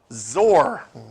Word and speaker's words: XOR: NAND, nor and XOR, which actually the cool kids pronounce zor.